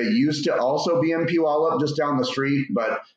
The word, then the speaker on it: Puyallup: So right now I'm sitting in our little corporate office in downtown Puyallup, Washington. It's one of those places where you'll never be able to pronounce it right unless you're from here, right?